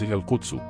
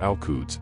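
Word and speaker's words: القدس: The Q is pronounced either with a voiceless uvular plosive, as in classical Arabic, or with a glottal stop as in Levantine Arabic.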